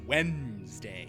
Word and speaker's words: Wednesday: But you're not, but I did hear Wednesday is Wednesday. You don't say the D, but you say the R in February.